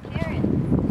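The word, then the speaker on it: cairn: what are they called Karen Karen yes they're not spelled like the Nam here okay tell us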